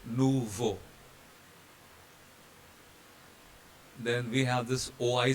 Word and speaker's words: nouveau: EAU is pronounced as O, so nouveau.